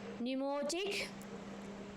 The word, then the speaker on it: pneumatic: Pneumatic. P silent.